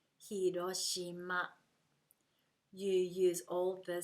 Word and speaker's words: Hiroshima: you speak this way take the stress out of your speaking and it will help you to sound more like Japanese hiroshima hiroshima you use all the